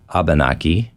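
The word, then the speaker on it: Abenaki: you might also hear abanaki which is a little more of a generic English way of saying it you may hear the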